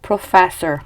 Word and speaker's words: professor: 자, 요 F 발음 안 되시는 분들 많아요. 페 아니고 페인데 힌트를 좀 드리자면 위치아랑 아랫입술이랑 살짝 붙은 상태에서 바람을 빼시면 돼요. 그래서 프로페서 아니고 professor 이렇게 발음하시면 됩니다.